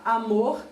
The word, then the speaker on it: amor: E na palavra amor também acontece a mesma coisa. Amor. Então, o mor é a sílaba mais forte da palavra.